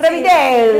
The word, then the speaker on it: Revideli: ¿Está bien pronunciado? Sí, Revideli.